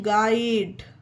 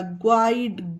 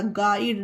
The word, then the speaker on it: guide: GUIDE गाइड। अब आप लोग ध्यान दीजिए कि कहीं पर भी यू का उच्चारण नहीं हो रहा, ग्वाइड गु नहीं हो रहा, गाइड डायरेक्ट जी के बाद आई गाइड हो गया।